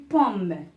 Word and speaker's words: pomme: Par exemple, je vais vous donner l'exemple de une pomme. Alors, je vais écrire une pomme. Alors, une pomme, là aussi, il y a OM, mais on ne prononce pas le son ON.